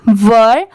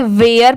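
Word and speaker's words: were: डब्लू ई आर ई वर बहुत सारे लोग इसे गलत प्रोनाउंस करते हैं इसे वेयर पढ़ते हैं बट ये रंग होता है इसकी प्रोनंसिएशन है वर डब्लू ई आर ई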